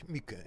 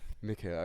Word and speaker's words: Mikke: You can pronounce me Mikke. My family is of German origin, and the emblem is Korwin. It's a Hungarian emblem, but the name is Mikke. Umlaut CKE. Mikke, okay.